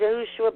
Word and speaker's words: Yahushua: His name was Yahushua ben David. Yahushua is probably the right pronunciation, but we all just call him Yahushua. He doesn't care. But Yahushua ben David is probably the 100% correct pronunciation.